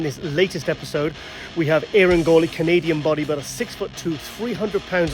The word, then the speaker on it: Eiren Gauley: I'm joined all the way from extremely sunny Toronto, Eiren Gauley. Yes. It worked. You pronounced it right.